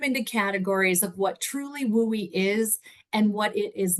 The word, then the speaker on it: WUE: talk about today um we all just call it wooy because Western undergraduate exchange is way too many syllables um and so we